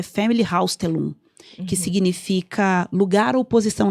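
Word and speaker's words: Familienaufstellung: E ela falou lá com o alemãozão dela, Familienhausstellung.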